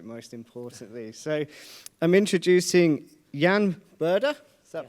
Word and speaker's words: Jan Burda: So I'm introducing Jan Burda. Is that pronounced correctly?